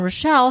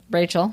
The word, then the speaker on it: Rachel: Bob and Rochelle had found a willing participant. Rachel. Shit. Rachel, not Rochelle. It's spelled kind of like Rochelle. Yeah. Anyway, Bob and Rachel. I heard her name said is definitely Rachel.